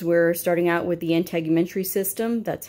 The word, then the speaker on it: integumentary: We're starting out with the integumentary system. That's how it's pronounced, integumentary.